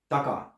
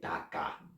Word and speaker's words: taka: it's actually a prefix and it's pronounced very short short WBLS short consonants speakers tend to pronounce them half long and that sounds very foreign if you say taka or something like that then we have taka